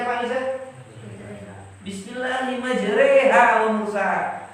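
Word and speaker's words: مجراها: Bismillahi majreha wa mursaha. Kenapa majreha? Tulisannya majroha. Loh, majreha karena adalah bacaan imalah ya. Bacaan imalah. Bacaan imalah itu merubah kata-kata fathah menjadi majroha menjadi majreha.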